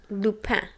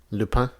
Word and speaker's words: Lupin: So how do you pronounce the show? Lupin. Lupin.